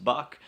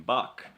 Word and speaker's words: Bock: Bock and box is because of their pronunciation of I'm back I'm back with their dialect is pronounced I'm buck and I'm buck roughly translates a billy goat so that's one of